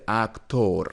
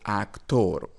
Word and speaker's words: actor: Actor, we don't say actor because we have here O. Some students might pronounce it actor, but it is wrong. It is actor, actor.